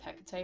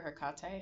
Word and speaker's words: Hecate: I'm also getting for some of you that you could work very closely with Hecate or Hakkate, however you uh prefer to say her name.